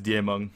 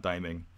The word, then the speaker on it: Diemong: By the way, it is Diemong. If you go to Google Translate and look at listen to the translation there, it is Diemong, not Daiming. Not the way the casters are pronouncing it.